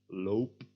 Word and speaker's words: loop: If we chop off en, however, we get the word lop, which is pronounced differently, o, loop, lop.